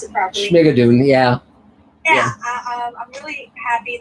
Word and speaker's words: Schmigadoon: hope it gets picked up for second called Schnugaden. I should be able to pronounce it properly. Schmigadoon, yeah.